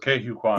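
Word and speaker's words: Ke Huy Quan: Yeah, at least that's how I've heard it pronounced, just Ke Hu Kwan.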